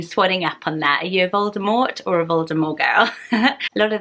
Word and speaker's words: Voldemort: added the tea but the original audiobooks is to have the silent T so yes I've been swelling up on that you Voldemort or Rivaldo Morgul lot